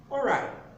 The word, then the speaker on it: alright: Then the next one is alright. Alright. This is not pronounced as ori. No, it's alright. It's alright. Now in the pronunciation, the W is silent.